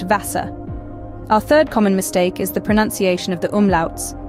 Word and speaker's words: Wasser: The V is pronounced more like the English F, and the W is pronounced like the English V. So the German word for water, Wasser, is pronounced Wasser.